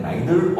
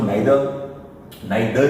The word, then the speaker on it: neither: आगे बढ़ते हैं, अब हम बात करते हैं नाइदर और नॉर पे। सबसे पहली बात प्रोनाउंसिएशन सीख लो, नाइदर नहीं हो, नाइदर मैंने देखो बहुत गौर से द के बाद 2 डॉट लगे, नाइदर और आइदर, नाइदर नॉर, ना तो ये ना वो।